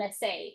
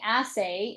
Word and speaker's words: assay: what they test for is called an essay. Is that correct? An assay. Yes. Assay. And that's spelled as ss a y.